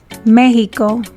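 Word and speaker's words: México: is pronounced like the english h or sh mexico j the pronunciation of the letter j in spanish varies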